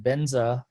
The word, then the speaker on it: benza: symbolize nirmanikaya and dharmakaya benza is a word tibetan pronunciation of the word vajra which means unchangeable and